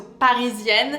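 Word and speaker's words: Parisienne: most Parian perfume of all the name is Parisian by if so pronounce Paran you really have to pronounce the ER in this one so Parisian I love this perfume this is a fruity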